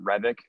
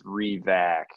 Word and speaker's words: Revac: My name, everyone pronounces it Revik. It's no, it's Revac. Just R-E, like you're doing re-projection, whatever.